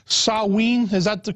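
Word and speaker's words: Samhain: know the real name I think was called sawe is that the correct the correct pronunciation that's yeah and in the Celtic British Isles yeah sa it's spelled s m ha a i n but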